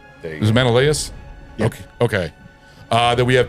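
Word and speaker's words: Menelaus: Menaus. Menaaus.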